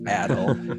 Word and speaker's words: Adel: It's not Adel, right. It's Adel.